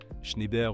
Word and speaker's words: Schneider: Pour faire simple, Saint-Gobain, AXA, tout le monde connaît, Airbus, le leader, Schneider ou Schneider, ça dépend comment vous prononcez, Veolia, champion aussi.